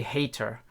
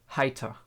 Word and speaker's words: Heiter: I think a lot of native English speakers make the mistake that they see the E in Heiter and they say hater, because that's the way you pronounce the E in English, but in German the E is actually E, right? And the E is, in combination with the I, is spoken Heiter.